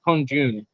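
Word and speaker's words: 空军: Alex just told us in China it's called air force. Pronunciation is kongjun or kongjun.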